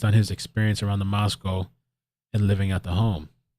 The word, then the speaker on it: Moscow: How do you go about pronouncing it? Moscow, Idaho. Moscow.